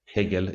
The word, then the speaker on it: Hegel: Derrida pokes fun at Hegel in the very introduction. He says that some French pronounced like eagle, like a frozen eagle.